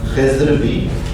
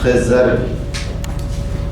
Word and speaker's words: خضر: کو شروع کریں گے۔ خضر کے کئی تلفظ ہیں اور سارے ہی درست ہیں۔ خضر بھی، خضر بھی، اور بلکہ بعض علماء کا خیال ہے کہ خضر بھی، یہ تینوں تلفظ اس کے رائج ہیں اور درست ہیں۔ ان کا اسم گرامی